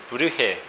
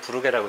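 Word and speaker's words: Brugge: 2번은 브르헤. 뭐 원래 발음은 그렇다고 하는데 우리나라의 이걸 언급한 책들은 뭐 대부분 부르게라고 되어 있더라고요. 해서 제가 표현을 브르헤, 부르게 이렇게 병행해서 좀 사용을 하겠습니다.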